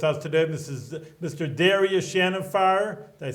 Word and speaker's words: Darius Shahinfar: Darius Shahinfar.